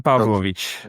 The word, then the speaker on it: Pavlovic: It's Pavlovich.